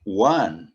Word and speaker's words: one: é Norman Ok já Quando eu digo One É como se eu tivesse um w antes do meu ó certo eu eu